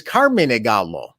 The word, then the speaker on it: Carmine Gallo: and giuseppe nagallo and my name in italian which no american can pronounce is carmen negalo because it's easier yes